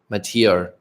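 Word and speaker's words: Mathieu: French for Matthew. It's pronounced Matier.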